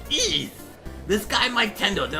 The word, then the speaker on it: Ys: what are you talking about the game is pronounced wide actually no it's pronounced II this guy Mike Tendo did a whole video